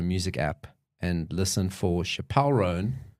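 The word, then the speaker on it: Chappell Roan: app and listen for Chapel rone I'm saying it right I think it's chapel chapel rone chapel chap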